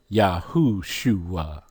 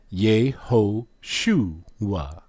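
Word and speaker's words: יהושע: It is pronounced Yahushua. But let's look at their transliteration. H3091. Ye ho suwa. Pronunciation Ye ho shuwa.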